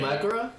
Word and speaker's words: Mahoraga: It's like spelled like M-A-H, yeah. Like A or O-A-R-A. But is it Mahoraga?